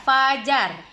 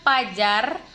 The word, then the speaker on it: fajar: sering salah nah untuk contoh kata-kata yang benar adalah Faiza Fajar motif ah Thief variabel vitamin Devaluasi zakat izin bukan Pajar bukan juga motif bukan